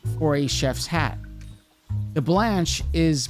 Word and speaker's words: blanche: The blanche is pronounced blanche, and means white.